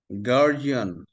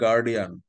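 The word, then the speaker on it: guardian: গার্জিয়ান, ডি এর উচ্চারণ জ। হ্যাঁ, এডুকেশন, ব্রিটিশরা ডি কে উচ্চারণ করে জয়ের মতো, গর্গীয় জয়ের মতো। গার্জিয়ান, this is নট গার্ডিয়ান।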